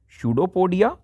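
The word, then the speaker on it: pseudopodia: सोलॉज the food, first है जीभ, टंग, पादाप, शूडोपोडिया, यहाँ पी साइलेंट रहेगा प्यारे बच्चों, शूडोपोडिया इसको कहते हैं, मुख गुहिका, माउथ कैविटी एंड आंत इंटेस्टाइन।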